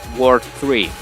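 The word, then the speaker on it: WWW: se pronuncia World 3.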